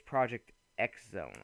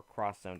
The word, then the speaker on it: Project X Zone: Now, one of the games I happened to pick up is Project X Zone or Cross Zone, depending on how you want to pronounce it.